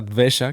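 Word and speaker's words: द्वेष: Hay una palabra que es la palabra que les quería compartir, que seguramente no han escuchado, sí, que se dice así, se pronuncia dvesha, que viene del sánscrito, ¿no?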